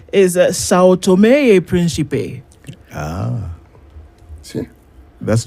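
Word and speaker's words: São Tomé e Príncipe: You pronounce Sao Tome Principe as it should be pronounced. So what he said, what the Portuguese would say is Sao Tome e Principe.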